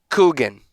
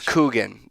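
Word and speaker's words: Kuchen: That I don't I It's Kugan. C Oh my god. It's Kugan. That's what it's pronounced.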